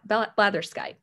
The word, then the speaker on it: blatherskite: Blatherskite. That is the pronunciation.